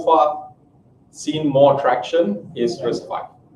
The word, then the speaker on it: RISC-V: And so they crafted this thing that eventually was called RISC-V. It is pronounced as 5, not RISC-V.